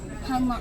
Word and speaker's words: Hana: Is it pronounced Hana? Hana, yeah, Hana Sushi.